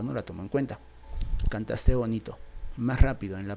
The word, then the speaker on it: cantaste: En la palabra cantaste, ¿cuál es la sílaba tónica? Notarás que es el segmento tas. En caso de que no te des cuenta, vamos a ver, es cantaste, cantaste, cantaste.